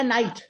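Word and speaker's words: knight: द फ cell आपका य प बोला गया नाइट अब य प के भी आपका साइलेंट है लेकिन अभी जीच के बारे में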